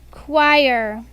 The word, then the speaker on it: choir: Choir. Choir. It's spelled differently than it sounds, Cameron.